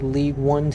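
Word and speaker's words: Ligue 1: local like League like League one team it's a league on that's how you're supposed to pronounce it the French league the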